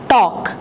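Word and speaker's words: talk: टॉक L silent है।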